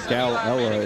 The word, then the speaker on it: Galella: They're saying Galella is how you say it, not Galella. I mean, that's close, but Galella. Yeah, you're just making use of all the L's, I think.